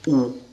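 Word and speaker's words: ου: Jota e il dittongo omicron Y che vi ricordo si legge u quindi in greco classico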